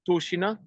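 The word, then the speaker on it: Tushino: the big shopping center, the Kaleidoscope here in Toshina, Tu H I N O, but pronounced Toshina in the northwest of Moscow.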